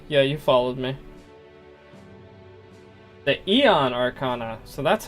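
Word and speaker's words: Aeon: yeah yeah okay yeah you followed me the Eon Arcana so that's how you pronounce it I love that as soon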